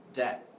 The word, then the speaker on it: debt: you owe someone money you are in debt debt it's silent be not dead okay no